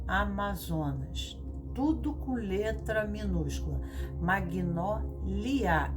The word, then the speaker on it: Magnólia: tudo com letra minúscula, Magnólia, L-I-A, e Mag é mudo G, é Mag, então M-A-G-N-O-L-A, com